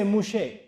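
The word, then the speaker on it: Moshe: does Musa me and they don't say Musa in Hebrew they say mouche so torah to musa they said taurat mouche that's how they pronounce it I said what does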